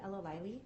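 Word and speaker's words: El-Alayli: your last sure uh my name's a Ella Wiley thank you uh my last name is spelled e-l hyphen a l a y l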